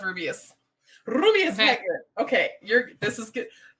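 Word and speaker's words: Rubeus: rubius for one oh I've always called said rubus no it's rubius okay you're this is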